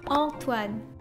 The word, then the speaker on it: Antoine: It's actually a French name, so you have to pronounce it Antoine.